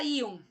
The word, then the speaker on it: íon: A palavra íon. A palavra íon, a sílaba tônica da palavra íon é a sílaba I. Recai na penúltima sílaba.